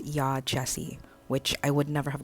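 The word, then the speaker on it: Yaa Gyasi: Okay, I just started the audiobook and her name is pronounced Ya Jessie, which I would never have gotten from the spelling.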